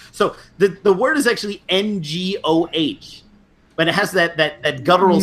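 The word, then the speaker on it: 我: You just say aw, because that's actually how most Cantonese say it. So the word is actually ngoh, but it has that guttural sound, which is actually ngo.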